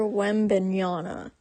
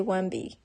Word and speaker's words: Wembanyama: So the basketball player's name is Victor Wembanyama. It doesn't look like it's pronounced that way, but it is. Or you can just say Wemby. Either one will work.